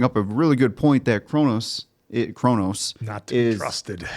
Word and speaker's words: Kronos: Kronos.